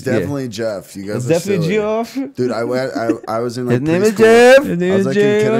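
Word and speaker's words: Geoff: so wait wait wait how does it spelled GE o FF yeah that's Jeff dude yeah you've never seen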